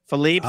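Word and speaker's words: Philippe's: don't say Philippe even though that's the correct pronunciation Philippe is the correct pronounce pronunciation but it's not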